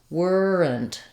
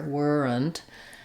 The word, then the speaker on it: weren't: In this video, focusing on weren't, there's two ways. In the dictionary, you might see it as weren't, two syllables, with maybe a little schwa sound here, weren't. Or you can use a syllabic end. Basically, you're going to say an n sound and the t.